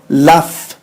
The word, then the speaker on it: laugh: laugh ننطق f laugh.